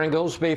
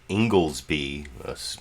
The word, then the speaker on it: Inglesby: Oh, I guess apparently it's pronounced Inglesby. I'm assuming that Chris Wallace got Inglesby correctly, because I look at it as Ingles.